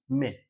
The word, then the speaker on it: mai: ওকে, তো হ্যাঁ, মে বানানটা ভুলে গেছি দেওয়া। সেটা হচ্ছে MA Y না, এটা হবে MAI, মে।